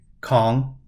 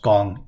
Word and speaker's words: kong: A kong pronounced gong in Cantonese is claiming a fourth tile to make four of a kind.